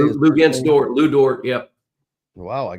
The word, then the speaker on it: Luguentz Dort: Luguentz Dort, Lou Dort.